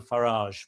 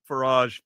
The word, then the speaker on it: Farage: We don't We don't know We've talked about Farage before. I call him Farage It rhymes with garage, but his name is Farage or Farage.